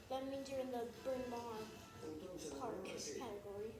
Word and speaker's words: Bryn Mawr: That means you're in the Bryn Mawr Park category. Bryn Mawr.